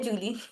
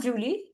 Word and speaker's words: Juli: It is not Julie. It is there July. There Juli. July is there Juli. Many students pronounce it as Julie, which is wrong. It is there Juli. J is year sound.